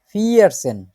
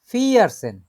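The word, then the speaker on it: vierzehn: 11কে বলে হচ্ছে এলফ, 12কে বলে সোলফ, 13কে বলে দ্রাইসেন, 14কে বলে ফিয়ারসেন, 15কে বলে ফুমসেন।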